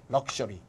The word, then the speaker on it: luxury: 요때는 발음이 크스야, 크스. luxury. 얘는 발음이 그즈야.